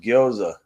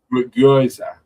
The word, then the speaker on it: gyoza: Goiza. I love goiza or pierogi or something like that. It's pronounced gyoza. Gyoza. No, gyoza.